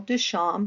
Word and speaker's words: Duchamp: a portrait of Marcel Duchamp we don't pronounce the p and it's he is